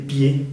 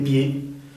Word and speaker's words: pieds: Y sus patas, les pieds, podemos decir les pieds. Les pieds, no se pronuncia esa D al final.